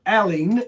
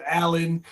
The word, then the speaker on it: Alain: Allen Dr. Alen. A l i a l a i n. Salis. So we pronounce it in the states. Allen. Um alen is the French pronunciation.